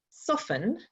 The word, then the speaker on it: soften: end of soft but then if you say soften you don't actually articulate that the t but the letters are still there the same with define